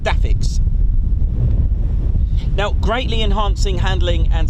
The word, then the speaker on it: DAFCS: as dafs or DFCS dafcs pronounced daix now greatly enhancing handling